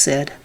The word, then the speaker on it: SID: It's pronounced SID, but it's actually an acronym, which stands for Special Investigations Division.